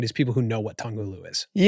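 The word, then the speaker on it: 糖葫芦: Tonghulu. Yeah. So essentially by what you did, you limited the scope of this to like the addressable market is people who know what tonghulu is.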